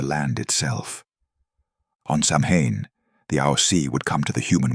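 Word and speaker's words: Aos Sí: The most dangerous spirits were the Aosi, pronounced Is-she.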